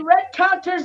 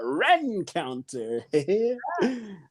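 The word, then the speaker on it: Rencountre: Hey, Whitney Red Counter's in the house. Hey, what's up, Whitney Rencounter? You gotta say it like that, Rencounter.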